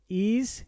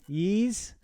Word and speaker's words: Ys: Ease, Yeez, Wise. I don't know. I think it's pronounced Ease, but this is the Monstrum Nox Deluxe Edition.